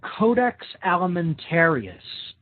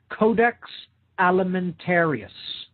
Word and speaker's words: Codex Alimentarius: should definitely look into and research it's called Codex Alimentarius now big word there okay this is spelled CE o de X codex okay that